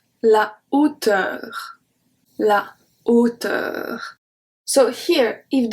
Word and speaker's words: hauteur: But because it is acting as a consonant, we say la hauteur. It's very separate. La hauteur.